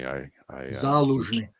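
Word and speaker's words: Zaluzhnyi: I always pronounce this wrong. Go ahead. Zaluzhny. Excuse me. Zaluzhny.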